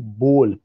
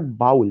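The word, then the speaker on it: bowl: That is बोल. वन बोल sugar, one बोल राइस आई नीड. तो दैट इज जो कटोरा हम लोग कहते हैं, उसका जो pronunciation, this is नॉट बाउल, this is बोल।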